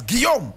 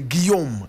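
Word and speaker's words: Guillaume: photograph of Gom perier Gom is spelled g u i w l a u m e that's Gom that's French for William right William William in in French we don't say William we say Gom so Gom perer perer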